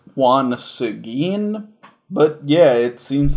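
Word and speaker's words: Juan Seguín: element okay that is as great-great-great-grandfather okay it's pronounced Juan Seguin but yeah it seems like our main character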